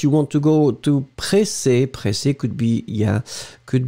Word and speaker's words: pressé: So, impatient is the first option, and then pressé could be totally acceptable. Pressé, remember, you will have to put this extra E in the end that you won't pronounce.